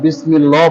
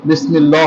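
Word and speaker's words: بِسْمِ اللَّهِ: আমাদের মধ্যে অনেকে আমরা আছি যারা বিসমিল্লাহ পড়ে থাকে, এখানে কিন্তু বিসমিল্লাহ হবে না, বিসমিল্লাহি বিসমিল্লাহি।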